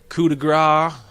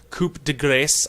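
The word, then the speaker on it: coup de grâce: his leave enemies weakened coup de gras coup de gras I think it's actually Coupe de grace I don't think is how you're supposed to pronounce that you deal more damage with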